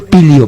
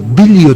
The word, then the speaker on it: Bilio: Bilio se escribe y se lee Bilio. Bilio. No es Pilio, Bilio.